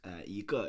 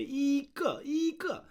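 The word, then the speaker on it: 一个: But the idea here is that this g will have a fourth tone, and then it sounds very awkward to say 一个. So it sounds a lot better if we put a second tone to that.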